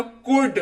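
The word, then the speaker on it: could: भी क्लास कराती हूं बताती हूं सी ओ यू एल ए डी एल उच्चारण के वक्त साइलेंट हो जाएगा बिल्कुल और बाकी हो जाएगा कुड उच्चारण इसका सीओ यू एल डी लेकिन पढ़ेंगे इसको कुड बड़ा यूनिक सा है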